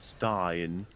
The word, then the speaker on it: Stein: named xtine or stein it's not stern but stein stein anyone ever say